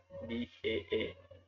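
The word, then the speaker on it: باء: It can be pronounced like here B-A-A, Ba.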